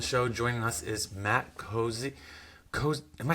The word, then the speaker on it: Cozzi: guest on the show joining us is Matt cozy Co am I saying it right cozy yeah perfect of the locked on network so